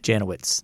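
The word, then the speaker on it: Janowicz: to sure i can uh 1950 vic janelle pronounce that for me janowitz janowitz wins the heisman trophy yeah from ohio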